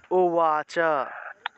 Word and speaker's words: উবাচ: আর আকার ছাড়া যদি উচ্চারণ করি তাহলে ওয়া ওয়া, এইভাবে সার ওয়া উওয়াচ। এটা উচ্চারণ করেন তো আপনারা, উবাচটা উচ্চারণ করেন তো, ওয়াচ উওয়াচ।